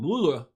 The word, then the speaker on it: Mueller: He pronounces it, looks like the German name Mueller.